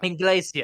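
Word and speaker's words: Englesia: Okay, so say it like I'm saying, like it's Spanish, the word for English. Maybe. Yeah. Inglesia.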